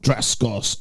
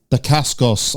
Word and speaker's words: Dacascos: Mark Dacascos. Oh, no, Dacascos. I keep calling him Dacascos.